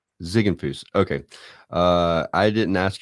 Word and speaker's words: Ziegenfus: morning thank you for having me absolutely so pronounce your last name for me it's zigg Fus zigg Fus okay uh I didn't ask you that beforehand